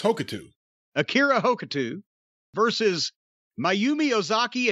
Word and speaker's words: Hokuto: featuring four Japanese women, Bull Nakano and Akira Hokuta. Hokuta? Hokuto? Pikachu? Pikachu? How do you say that? I believe it's Hokuto.